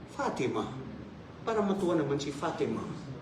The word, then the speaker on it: Fatima: Huwag mong sabihin Fatimatun. No. Fatima.